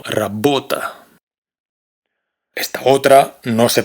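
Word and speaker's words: работа: Por ejemplo, esta palabra se pronuncia rabota, no rabota, sino rabota.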